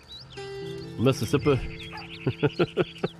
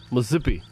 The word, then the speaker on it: Mississippi: got miam we have uh Texas and Missouri Mississippi Missippi no you don't say Missippi you say Missippi